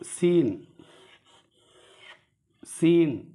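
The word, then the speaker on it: سين: சீன் லேசாக சொல்லணும். சீன் சீன். இன்னொரு எழுத்து வந்து ஷீன். ரெண்டும் ஒரே மாதிரி தான் இருக்கும். இங்கே மேலே வந்து புள்ளிகள் கிடையாது. இங்கே பாருங்கள், 3 புள்ளிகள் இருக்கிறது. அது சீன் சீன் அப்படின்னு சொல்லணும்.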